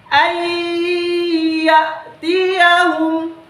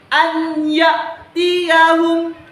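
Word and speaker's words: أن يأتيهم: Sebagaimana contohnya saya bacakan, ayyatiyahum, ayyatiyahum. Jadi kita tidak membacanya lagi anyatiyahum, anyatiyahum. Itu salah. Cara membacanya yang benar adalah ayyatiyahum.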